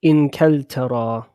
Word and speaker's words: إنجلترا: We say Inkaltara. Okay, Inkaltara. إنجلترا. You can pronounce it with a Jim as well. But I prefer to say with a kaf.